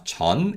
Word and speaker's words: 전: key syllables that mean before and after are chan and who these syllables have chinese origin and they are used